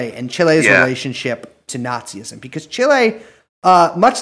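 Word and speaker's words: Nacis: Explicitly called the Nazis, N-A-C-I-S. Yes. I'm sure you can correct my pronunciation, but... Oh, that was correct.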